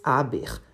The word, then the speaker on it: aber: Ele não dizia mais aber, a pronúncia normal em alemão, mas aber. Perguntado pelo motivo dessa transformação, disse que o E mudo da segunda sílaba não lhe dava segurança em face da intromissão,